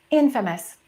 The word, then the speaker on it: infamous: We have the word famous, but this one we stress the first syllable. Infamous.